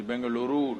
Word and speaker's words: Bengaluru: It is Bengaluru now, okay? You have to pronounce it rightly.